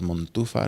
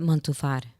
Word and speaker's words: Montufar: Instagram yes you can either find me mom too far my last name is mo n tu far2 I said month too far yeah I said it wrong the first time